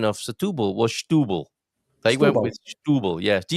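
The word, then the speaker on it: Setúbal: And the Portuguese people in the bar on Saturday seemed pretty certain that the correct pronunciation of Satub was stubble.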